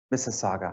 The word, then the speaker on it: Mississauga: Did I pronounce that right? Mississauga, I'm sorry.